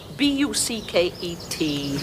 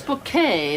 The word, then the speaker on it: Bucket: It's bouquet. B U C K E T book. The accent on the second syllable. Ah. Ah. Mrs. Bucket. Mr. Mrs. Richard Bouquet.